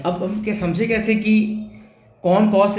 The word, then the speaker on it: cosec: तो यहाँ पे हमको समझना पड़ेगा कि जो हमारा कोसेकेंड है उसके नाम में हमें इसको थोड़ा आगे तक पुश करना पड़ेगा। तो इसको हम लोग प्रोनाउंस करेंगे कोसेक।